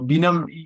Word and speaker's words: Benom: the wines uh and so bam means a project together in French you actually spell it differently you spell it b i n o m e in French but we wanted everyone to say the same way so that's why we